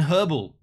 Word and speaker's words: herbal: The H is silent sometimes. No, it's not silent. It's not silent. It's right there, man. How can it be silent? It's not silent in herbal.